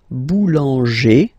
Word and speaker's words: boulanger: Remember, when you've got this E plus this accent grave, you pronounce it like E, really open E sound. Okay, so boulanger, boulanger, and then feminine form, boulangère, boulangère.